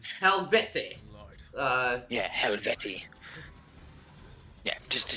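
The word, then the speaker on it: Helvetii: Silver's gonna yell at me I'm gonna say helvette uh yeah yeah just to say helvetti there you go there's a character action game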